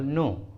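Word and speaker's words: know: अगला एग्जाम्पल देखिए नॉलेज, नॉलेज, देखिए इस इंग्लिश वर्ड में के और एन एकदम सामने में है और एन के पहले के है इसलिए के साइलेंट है, इसका सही उच्चारण होता है नॉलेज, नॉलेज।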